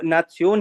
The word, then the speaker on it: Nation: यहाँ पर इसको इंटरनेशनल ही बोलेंगे, नेशन को नासियोन ही बोलेंगे, ओके ओके ओके, इंफॉर्मेशन को इंफॉर्मेशन ही बोलेंगे।